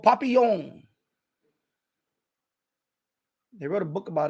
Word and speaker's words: Papillon: with Steve McQueen Papillon I'm trying to pronounce it French Papillon and he was a